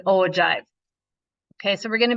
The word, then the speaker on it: ogive: relative frequency numbers and these are pronounced as an ogive I did kind of write that in our notes here um it is an ogive okay so we're going